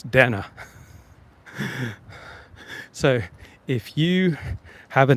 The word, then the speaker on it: Dana Bash: wasted because Dana and it's not Dana Bash it's Dana so if you have